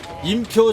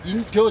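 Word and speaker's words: 林彪: 임표 장군인데 중국 발음으로는 인표 장군입니다.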